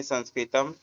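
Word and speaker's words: संस्कृतम्: संस्कृत भाषा संस्कृत संस्कृत में संस्कृतम संस्कृत उच्चारण संस्कृतम।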